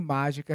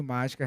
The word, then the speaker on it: mágica: Em mágica, a sílaba tônica está aqui. Ela é uma proparoxítona e ela recebe o acento. E você vai ver daqui a pouquinho por que mágica recebe acento.